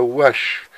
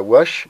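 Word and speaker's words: houache: Alors, si j'ai des normands ou des Parisiens qui m'écoutent, on dit la wash et non pas la gouache.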